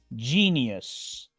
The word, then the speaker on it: genius: I genius genio sodium en este caso la i se pronuncia como una doble I y la u si se pronuncia genius sodium sigamos ahora con